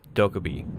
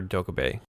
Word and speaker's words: Dokkaebi: siege today we're talking about the Korean operator dull Kobe and yes Ubisoft has confirmed that's how you pronounce her name literally up until this video I've been calling her doko BAE so now that I know how to properly